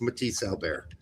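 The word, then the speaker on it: Matthias Albert: The best of all the rest is Matisse Albert. So please get out there and pronounce it as Matisse Albert, please.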